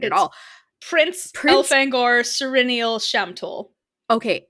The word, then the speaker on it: Elfangor: right at all Prince elfangor cenal shamol okay elfangor yeah okay well that's the way I've pronounced it el fangor el fangor okay people do different ones